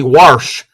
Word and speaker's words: wash: Wash. That means you wash. It's when you wash something. That is how we pronounce wash in Maryland.